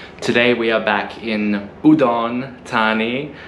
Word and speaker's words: Udon Thani: we are back in udon tani i'm saying like the thai people my girlfriend uh made sure that i have to say it like that i often say it incorrectly like i say udon